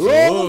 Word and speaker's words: Louisville: nothing between the L and the V. It's Louisville, Kentucky.